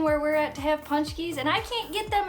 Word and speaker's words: Pączki: today we are making punch keys yes punch keys i know it's spelled really funny in the title but it's pronounced punch keys they are a polish